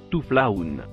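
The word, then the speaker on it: تفلحون: Et enfin le dernier mot écrit en couleur marron, il se prononce Touflaoun.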